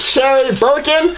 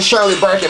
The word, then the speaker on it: Sherry Birkin: We're gonna try to wrap this shit up with Sherry Birkin. I said this bitch's name wrong last time, I know. I said fucking Shirley Birkin, bruh.